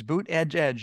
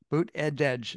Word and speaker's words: Buttigieg: It's boot edge edge. You could say it, boot edge edge. That's how you pronounce it.